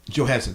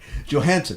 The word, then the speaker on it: Johansson: So this is Johansson. Sorry, Johansson and Johansson. I just threw an extra syllable, but so this, when you think about it, I mean, this is Black Widow.